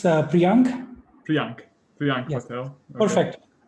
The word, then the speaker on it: Priyank: It's Priyank.